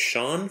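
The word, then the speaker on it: Siân: Livia is being played by, do you say it's Sean Phillips? Or is it? Yeah, that's how I pronounce it. Okay, because it's S. That's the Brit way.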